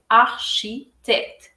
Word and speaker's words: architecte: architecte, architecte এখানে ch এর উচ্চারণ হবে শ, আর টির উচ্চারণ হবে ত দুইবারই। সো এটা হবে architecte, যেটার মানে হচ্ছে আর্কিটেক্ট অথবা স্থপতি।